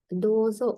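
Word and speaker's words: どうぞ: ඉතින් මෙතනත් long vowel එකක් තියෙනවා. දෝ වලට ඌ එකක් ඇඩ් වෙනවා. දෝ කියලා ඇදෙනවා. ඊළඟ මෙතන zෝ කියලා තියෙන්නේ. සෝ වලට තෙන් දැම්මම zෝ කියන සවුන්ඩ් එක හැදෙනවා.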